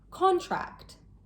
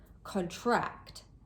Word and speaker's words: contract: As a noun, contract. The stress is placed on the first syllable. As a verb, contract. The stress is placed on the second syllable.